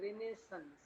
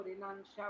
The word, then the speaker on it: Renaissance: अभी हम करेक्ट लिख दे रहे हैं, RENAISSANCE, और इसका सही प्रोनाउंसिएशन है रेनेसेंस। हालांकि कुछ लोग इसको रिनांशा बोलते हैं, पता नहीं क्या क्या पढ़ते हैं टीचर्स, लेकिन रेनेसेंस एग्जैक्ट इसका है।